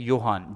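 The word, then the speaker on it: Johan: योहान। जे को जोहान मत बोलो, योहान अगस्ट ने इसको, योहान अगस्ट एंड ऑर्फ वेडसन, योहान अगस्त।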